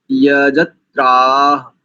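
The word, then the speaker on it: यजत्राः: शुद्ध उच्चारण करते हैं दो स्थानों पर त्रुटिया देखो ध्यान दीजिए प्रथम पंक्ति का अंतिम शब्द मैं केवल अंतिम बात बता रहा हूं भिर यज त्रा त्रा यज त्रा ऐसा और दूसरी पंक्ति का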